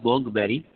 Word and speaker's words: Montgomery: It is Montgomery. T is silent.